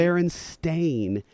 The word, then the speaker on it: Berenstain: It's never been E-I-N. Really? It's Berenstain, A-I-N.